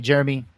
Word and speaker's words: Jerremy: great Twitter is great my first name is spelled two r's j-e-r-r I was just gonna say that yeah yeah because my dad's name is Jerry and so it stands for Jerry and me Jeremy that was my mom's